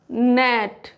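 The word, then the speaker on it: gnat: अगर कोई वर्ड जी से शुरू हो रहा है तो वो जी साइलेंट होगा। क्या पढ़ा जाएगा? नॉम, नेट, नो।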